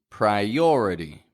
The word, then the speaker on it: priority: about how I pronounce priority in the middle of that word where we have that I I there's no break between the I and the O I don't go priority